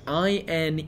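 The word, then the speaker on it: inee: was this four-letter word i na e which was another type of arrow poison pronounced in a at least that's how we'll set it so i'm assuming he's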